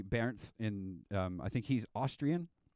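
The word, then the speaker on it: Bernth: there's this guy named burnt you pronounce in english but it's pronounced differently bear in um i think he's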